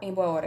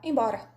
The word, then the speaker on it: embora: Eu não falo em boa hora, eu falo embora.